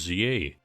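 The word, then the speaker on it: Z-A: By the way, I say Zed in day-to-day life, but the game's pronounced ZA, and so I don't mind using it in this context, similar to how it would sound weird to say Dragon Ball Z.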